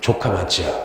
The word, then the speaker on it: 조카마치: 성하촌인데 요거를 발음을 좀 조심해야 돼요. 일본어로 조카마치라고 불러요. 무슨 마치? 조카마치야.